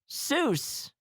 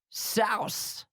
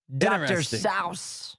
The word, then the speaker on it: Seuss: Seuss is pronounced Seuss, but his family...